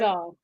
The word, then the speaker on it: SZA: SZA.